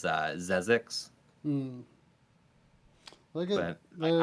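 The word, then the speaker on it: Xexyz: name of that, and Dave calls it Gziz. But I think the correct way to say it is Zezix. Hmm. Look at but they're I've always referred to it as Xeez.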